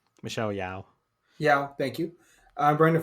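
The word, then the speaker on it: Yeoh: uh Jamie Lee Curtis um I hope I pronouncing that correctly um Michelle Yeon Michelle Yao yeah thank you uh Brandon Frazier you're right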